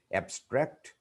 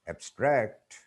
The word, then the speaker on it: abstract: When we use some words as nouns or adjectives, the stress is on the first syllable. But when they are used as verbs, the stress is put on the second syllable.